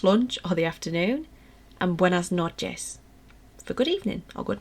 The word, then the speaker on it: buenas noches: how about you have a go so it's pronounced buenas noches okay so your turn guys buenas noches so